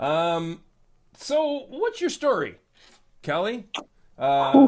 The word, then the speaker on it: Kele: So, I have with me Kelly Fleming. Kelly.